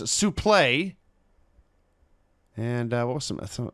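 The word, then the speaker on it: suplex: I'm dead she informs Mr tazmaniac that is pronounced suple play and what was some some else here uh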